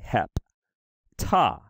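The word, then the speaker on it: ἑπτά: So it's going to have two syllables. It's going to be hep, ta, hep, ta. And because those two consonants are together, one goes with the first syllable, one goes with the second. Hep, ta.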